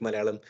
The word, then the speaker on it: Malayalam: really good like when you said the word malum itself I knew you learned how to say